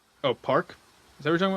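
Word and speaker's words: PARQ: How' you pronounce it? P. Park.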